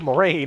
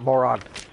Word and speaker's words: Moraine: How do I pronounce Moron or Moraine? Wow, I cannot read today. I cannot read. It was Moraine, not Moron.